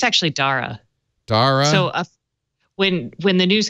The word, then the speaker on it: Dara: I decided, I don't care how he pronounces it, I'm calling him Dara Khosrow Shahi because I pronounce it all I think day. it's actually Dara.